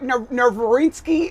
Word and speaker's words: Nowitzki: Dirk I can never say his name I judge divinsky I'm like Dirk Nowitzki well his his his last name has a W in it and it acts as a V so it looks like